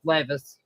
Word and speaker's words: Levis: Will Levis Lis I I think he's still I think it's pronounced Levis.